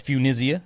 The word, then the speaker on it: Funisia: That's spelled F-U-N, like fun. Absolutely. I-S-I-A. That's Funisia.